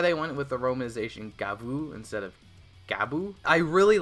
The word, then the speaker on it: Gavv: very mouth mouthy themed gav the name is in Japanese it's gavu you could the the Katakana there is gavu I'm just going to say gav because it's spelled gav